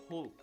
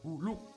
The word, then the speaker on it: Hulk: ya pronciation Avengers Edition bacanya tuh Hulk bukan huluk gitu huluk huluk Bapakmu kayak